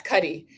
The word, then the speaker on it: Cuddy: Cuddy.